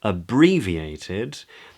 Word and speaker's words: abbreviated: So for abbreviated, the stressed syllable is brie. Can you see that little line just before the B? Abbreviated, that's the stressed part.